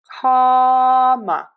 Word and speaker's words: comma: So for this open wide for that a and comma schwa in syllable number two comma comma comma comma comma